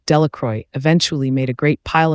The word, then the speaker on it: Delacroix: Bobby and Harry Jones and Dickie Delacroix, the villagers pronounced this name, Delacroix, eventually made a great